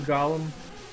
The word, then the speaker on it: Golem: you know some some sometimes it's pronounced golum I I always said Golem I don't know what's